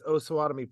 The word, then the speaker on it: Osawatomie: So how far off am I with this with Osawatomie Pride?